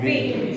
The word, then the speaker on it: wind: वाइंड नहीं होता है, इसका उच्चारण ठीक करो बच्चों। वाइंड नहीं होता है, वो क्या होता है? विंड।